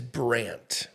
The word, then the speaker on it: Brandt: It's not, my given name is Brant. So, okay. Yeah, and it's spelled Brandt, okay. which is somewhat rare.